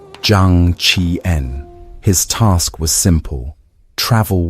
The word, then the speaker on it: Zhang Qian: His name was Zhang Qian, pronounced Zhang Qi-en.